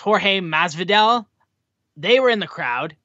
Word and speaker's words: Jorge Masvidal: UFC fame, and I believe his name is pronounced Jorge Masvidal, they were in the crowd, which was very cool.